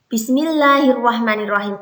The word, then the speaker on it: Bismillahirrahmanirrahim: Harus jelas ya, bis-nya disukun. Ar-Rahman, jangan Ar-Rahman ya. Biasanya anak-anak bacanya seperti ini. Bismillahirrahmanirrahim. Salah ya. Yang benar Bismillahirrahmanirrahim. Kalimat ini artinya adalah dengan